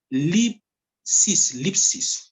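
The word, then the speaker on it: θλῖψις: Moi, je prononce Lipsis. Lipsi. Ou bien Lipsi ou bien Lipsis. Moi, pas prononcer TH là.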